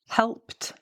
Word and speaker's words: helped: You use the t when the verb ends in an unvoiced consonant, such as p, k, f, s, sh, ch. These unvoiced consonants are when we're not actually engaging, really, the vocal cords. It's not like sounds where you're using your vocal cords, such as B, G. You can hear there that I'm actually voicing those letters, right?